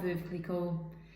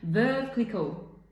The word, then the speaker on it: Veuve Clicquot: It's not Veuve, it's not Veuve Clicquot. It's, well, I think it's Veuve Clicquot. It rhymes with nerve, but it depends on how you say nerve, because some people would say neuve.